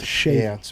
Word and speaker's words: Shaivitz: It's not Shaivitz. Shaivitz. Yeah. Shaivitz. The I is silent. Interesting.